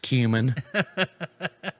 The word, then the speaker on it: cumin: real close to him he goes it's pronounced cumin and i just looked at her and i just laid my on the conveyor to the region i just walked off i was like you know what i don't want it anyway and i was you know 28 years old when i realized it wasn't pronounced coming whichever who named that